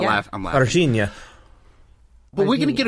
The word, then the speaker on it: Varginha: We got to remember to put the "ya" at the end. Virginia.